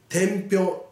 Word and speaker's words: 天平: この天という字に平と書いて天平と読むので覚えてくださいね。